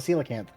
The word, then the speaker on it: coelacanth: It's a coelacanth. That's how you pronounce it?